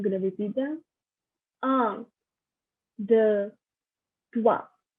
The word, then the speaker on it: trois: 1 is un, 2 is deux, 3 is trois, 4 is quatre, 5 is cinq, 6 is six, 7 is sept, 8 is huit, 9 is neuf, 10 is week. Again, I'm gonna repeat them. Un, deux, trois, quatre, cinq, six, sept, huit, neuf, dix.